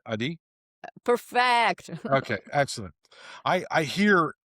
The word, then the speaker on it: Adi: Adi?